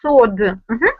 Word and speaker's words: sword: Okay, this word is pronounced like sword. Yeah. Sword. We do not pronounce sound w.